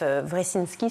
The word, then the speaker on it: Wresinski: La spécificité d'ATD Quart Monde, c'est que le mouvement a été créé par un homme qui s'appelle Joseph Wresinski, c'est comme ça qu'on prononce.